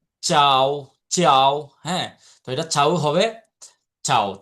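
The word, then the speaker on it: ciao: এইযে দিয়া কি বলেছিলাম চাও চাও চাও হ্যা এটা চাও হবে চাও চাও মানে আপনি যখন ধরেন একজনের সাথে আপনার সমবয়সী কারো সাথে ইতালিতে আপনার দেখা হলো তখন আপনি কিভাবে বলবেন তাকে কি বলবেন চাও চাও চাও অথবা আপনাদের চাও বলবেন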